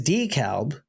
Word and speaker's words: DeKalb: Like DeKalb is decalb.